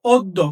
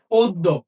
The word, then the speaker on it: অদ্য: তাহলে এই দয়ের সাথে যখন আমার জফলা আছে তখন মনে রাখতে হবে উচ্চারণটা হবে দ যোগ দ।